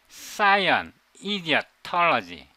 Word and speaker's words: Scienidiotology: You should pronounce it Scienidiotology. Science, idiocy, ideology.